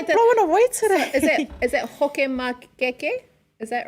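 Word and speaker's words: fakamakeke: Is it hokemakeke? Is that right? Whakamakeke. So F-A-K-A M-A-K-E-K-E, whakamakeke. See, we pronounce the F like hua, like, I know, right?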